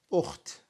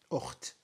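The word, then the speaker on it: أخت: You would say sister as ukht. Ukht, like that, ukht.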